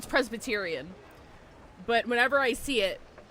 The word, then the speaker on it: Presbyterian: Did I say Prebestrian? I always misread Presbyterian as Prebestrian. Feeling all I've right? done that since I was a child. I'm pretty sure I mispronounced that. I know it's Presbyterian, but whenever I see